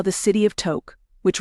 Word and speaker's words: Tok: No one knows how the city of Tok, which rhymes with soak or choke, got its name.